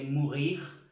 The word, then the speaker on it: mourir: Todos los verbos que terminan en IR se pronuncia la R. Morir se dice mourir, no se termina ni R y no pronunciamos mourir, no, mourir.